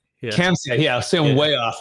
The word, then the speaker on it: Khamseh: Okay, he can pronounce that for here in a minute. It's Khamseh. Yeah. Khamseh, yeah, so I'm way off, right?